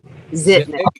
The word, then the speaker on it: Zitnik: Yeah, Zitnik.